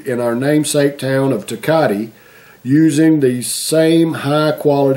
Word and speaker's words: Tecate: asked him I said have you ever had any teate and he he said Oh you mean takati so I guess that's how you pronounce it takati um it's a takati